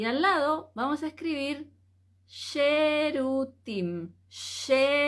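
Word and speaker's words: שירותים: escribir baño y al lado vamos a escribir cherutín sh e r u t i m Entonces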